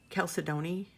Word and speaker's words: chalcedony: Okay, question this, how I pronounce this. Chalcedony, Jade? Chalcedony.